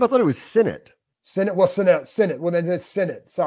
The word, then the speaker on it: Sinnott: But I think that Sanute, when you watch him block Bram, he's going to help the run game too.